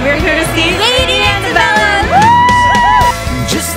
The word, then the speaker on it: Antebellum: And we're here to see Lady Antebellum. Just like driving on. Charles, David, Henry. Lady Antebellum. Got to check the pronunciation. Okay. Antebellum. Yeah, you got it.